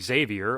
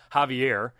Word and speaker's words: Xavier: Kofi and Big E against the Usos and Xavier, or as Chris Jericho called him, Javier. One of my favorite things about Jericho is how he always mispronounces people's name, calling Lillian Garcia Vivian, Mark Henry, Mike Foley, Vance McMahon.